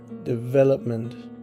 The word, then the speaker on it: development: Now look at the word development, and that is on the syllable V, development. This is because only the E in the second syllable is stressed, because the tonic is on, as I say, the V. And so the others are